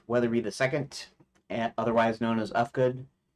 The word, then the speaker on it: Uhfgood: My name is Weatherby II, otherwise known as Ufgood, and spelled UHFGOOD because the name I thought had a silent H in it, which it did not.